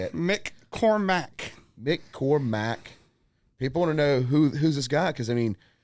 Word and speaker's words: McCormack: McCormack.